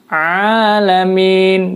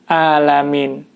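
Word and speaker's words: العالمين: menggunakan huruf Ain ya jadi disini harus ditekan Alhamdulillahirobbil alamin alamin bukan alamin itu kesalahan yang ada pada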